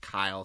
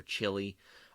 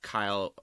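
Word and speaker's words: chyle: um the lymphatic structures so when you see that Kyle chyl or maybe you want to call it Chile or chili I'm fine with that as long as you know how to spell it but the Kyle um and that's the way I've always heard it called is going to be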